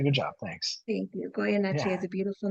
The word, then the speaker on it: Goyeneche: Welcome, Goyeneche. did I pronounce that properly?